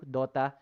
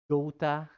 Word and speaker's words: Dota: dota i call it dota but um like short o dota but i notice the kids these days use dota like major social cell